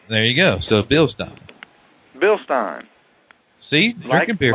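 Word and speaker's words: Bilstein: thank Mr Jim Highland coming on from uh billstein and he said if you win in his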